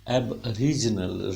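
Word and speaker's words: aboriginal: एरीजल ए sound बिल्कुल secondary stress ए sound पे है बिल्कुल नीचे रहेगा अ अ यहां तक जाएगा रिज एब सिलेबल है रिज सिलेबल है नल सिलेबल है एब रिजनल रा साउंड एकदम ऊपर जाएगी एब रीजनल एब ऊपर जाके रीजनल कैसे आएगी बिलोंग टू एंस टाइम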